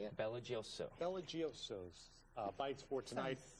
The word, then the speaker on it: BelGioioso: Belgioioso.